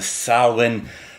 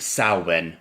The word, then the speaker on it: Samhain: Yes, the Samhain festival season. And yes, it's pronounced Samhain, not Sam Hain.